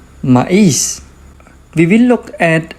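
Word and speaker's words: maíz: It is a weak vowel, but it has the accent mark, so that is going to turn into a strong vowel and it is going to create its own syllable.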